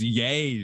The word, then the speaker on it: Ye: partnership obviously no Sam's not ye dude it's yay dude no because well because you say his